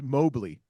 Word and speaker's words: Moberly: And then you go to Moberly Community College. LT, do you know where Moberly is? It's Mobley. It's in Moberly. Missouri.